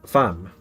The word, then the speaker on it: femme: Femme. Pronounced femme.